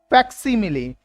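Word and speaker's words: facsimile: फैक्सीमिली, correct pronunciation क्या है? फैक्सीमिली। कैसी आवाज आ रही है? फैक्स की। देखो कैसी आवाज आ रही है? फैक्स, FAX। आगे ई मिली, फैक्सीमिली।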